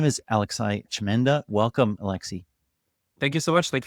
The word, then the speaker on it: Alexi: So, I said Alexai, but is it al Alexi? I go by Alexi.